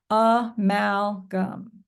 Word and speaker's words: amalgam: spell it g m oh and I said gam but it we really say gum but um I like to think of it as gam because it helps me remember how to spell it